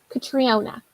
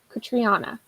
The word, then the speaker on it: Catriona: Okay, so oh my god, I just learned how to pronounce this author's name. Catriona. No, wait, Catriona.